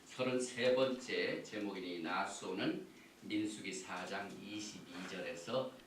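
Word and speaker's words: נשא: 인구를 수를 새라 그래서 다시 한번 합니다 나소 베네 아 이렇게 발음을 합니다 오늘 우리가 토라를 공부할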